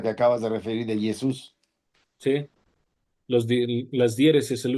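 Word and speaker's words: Ἰησοῦς: la llamada y entonces se pronuncia Jesús. Recuerden, aquí hay un tip tongo propio, pero la u matada la o y solo se pronuncia el valor de la i. Jesús. Jesús. Como el acento está en la U, se pronuncia de esa manera.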